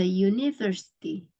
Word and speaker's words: university: Walaupun dia tulisannya dimulai dengan huruf vokal, tapi pas pronunciation lebih terdengar suaranya tuh konsonan.